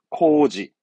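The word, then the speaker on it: 工事: 공사 발음은 코지, 공사는 코지, 공사는 코지.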